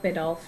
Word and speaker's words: Biddulph: Yeah, Rod Biddulph, yeah.